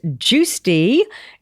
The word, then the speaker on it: Giusti: I always go, "It's Giusti. G I U S T I. S as in Sam, T as in Tom." And it's juice and tea.